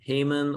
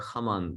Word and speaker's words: Haman: you like to them his name is haman or haman in some languages it's pronounced that way heyman or khaman either pronunciation is fine why do certain groups